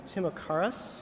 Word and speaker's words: Timocharis: I'm sure I'm going to pronounce it wrong, but it's Timocharis or something like that.